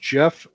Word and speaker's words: Geoff: Pronounced Jeff or.